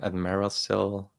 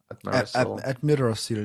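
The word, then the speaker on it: Amirdrassil: So I think how do you pronounce it? Admirasil? Admirasil, yeah?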